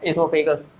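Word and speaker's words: oesophagus: तो इसका देखो स्पेलिंग होता है, इसका स्पेलिंग स्टार्ट होता है ओ से, OESO, ओ साइलेंट रहेगा, इसोफेगस, ठीक है।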